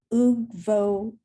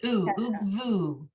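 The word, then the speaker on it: וּגְבוּ: Ugvo. So that's ugvu. You see the dot is in the middle Oh, of yeah.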